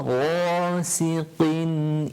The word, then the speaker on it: غاسق: ومن شر غا is right from the top of the throat. You remember when we done it, we said it's as if you're gargling water.